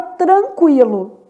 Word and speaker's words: tranquilo: Na palavra tranquilo, o N também é nulo, quer dizer, forma dígrafo, não é pronunciado.